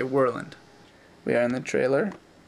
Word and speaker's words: Worland: If you're Alaskan, you'd say Worland. If you're Seattleite with New York inflection, you might say Worland. And if you're correct, you would say Worland.